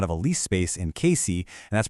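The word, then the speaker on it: Cayce: More recently, their lapidary workshop was running out of a lease space in Casey, and that's pronounced KC.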